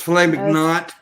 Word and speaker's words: filet mignon: I love filet mignon. Okay, that's like my favorite steak ever. Saying it wrong. It's filet mignon. Whatever. That doesn't have a T at the end.